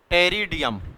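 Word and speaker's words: Pteridium: इनके एग्जांपल याद रखना टेरेडियम क्या है पीस साइलेंट होता है ना और क्या होता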